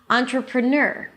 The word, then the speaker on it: entrepreneur: da da da da entrepreneur entrepreneur Okay. So, when you think about it, that's not a difficult word to pronounce if you disregard the spelling and think of it like this. Entrepreneur.